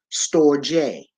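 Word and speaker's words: storge: s t o rge however is pronounced store J store J it is Greek this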